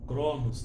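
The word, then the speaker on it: χρόνος: que que é cronológica palavra vem do grego né cromos é pronuncia cromos né rockstter mas tempo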